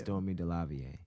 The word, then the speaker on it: Stormé DeLarverie: Stormé DeLarverie. DeLarverie. Thank you. Stormé DeLarverie.